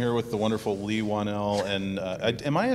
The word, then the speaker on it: Whannell: I'm sitting here with the wonderful Leigh Whannell, and am I saying that right? Is it Whannell or Whannell? You said it very right.